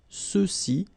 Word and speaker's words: ceux-ci: Okay, remember final X is not pronounced, so you get the sound ce, ceux-ci, and then ceux-là.